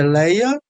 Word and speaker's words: Lia: Então, a pronúncia é leia, mas a pronúncia lia não está errada por causa dessa questão a da da meia vogal em hebraico.